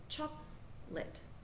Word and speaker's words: chocolate: The A sounds like I like in bit and the E at the end is the common silent E. It does not make the A sound a long sound. So instead all we have is chocolate. Chocolate. Two syllables.